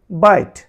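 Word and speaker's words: bite: এখানে আছে বিআইটি, বিট, বিট এখন উচ্চারণ হওয়ার কথা বিটে বা বিটি, কিন্তু সেটি হয়নি, হয়েছে বাইট, বাইট এখানে অনুচ্চারিত ইর জন্য হয়েছে বাইট।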